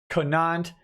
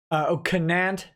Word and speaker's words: Canant: Ian Canant says, Nick Rekieta, my name is pronounced Conant. Canant.